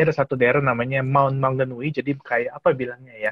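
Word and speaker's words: Maunganui: Ini adalah masih di Pulau Utara juga, Maunganul atau gimana bacanya nih, Bro Welly? Maun Mangganui. Mangganui. Ya, Mangganui.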